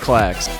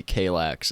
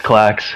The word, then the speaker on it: KLAXX: our very special guest i'm pretty sure it's pronounced clacks what's up how you guys doing yep it's class all right good because like i've heard some people tell me kalax and i'm like no i don't think that's